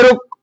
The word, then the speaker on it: rho: बोरे रो ऐसे लिखाता है, सुनिए RHO इंग्लिश में लिखाता है ऐसे है, लेकिन इसमें H ना साइलेंट रहता है, मतलब H का प्रोनाउंसिएशन उच्चारण नहीं होता है, तो लोग इसे रो बोलता है।